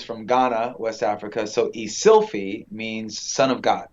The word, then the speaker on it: Eszylfie: name like what are some of the weirdest pronunciations you've ever gotten yeah yeah so uh it's ilf he is an interesting name right my father is from ghana west africa so isilfie means son of god right so i got